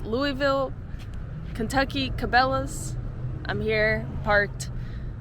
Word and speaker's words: Louisville: I know it's Louisville, you don't pronounce the S. Louisville, Kentucky Cabela's.